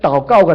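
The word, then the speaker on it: 祷告: 그러나 이걸 중국 발음으로 한다면 따오까오가 됩니다. 따오까오.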